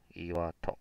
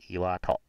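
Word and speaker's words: 天岩戸: 哦，好，天叫做阿妈，那个岩叫做伊瓦，那户念作托。好、哦，那你名词弄名词，所以要合起来念天岩户，就是阿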